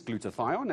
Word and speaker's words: glutathione: So what is glutathione and how do we try and keep on top of it?